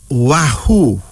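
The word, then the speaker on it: Wahu: of female names our first female name is wahoo now Wahoo does w a h u wahoo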